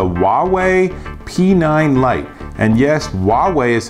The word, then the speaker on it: Huawei: And yes, Huawei is how you pronounce the company name.